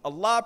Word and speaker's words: Allah: Allah pronounced A-double-L, exhale with love.